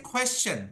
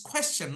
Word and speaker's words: question: like sound low yeah so in India we don't say question do you know what we say Sir what is your question it's question not question okay the last one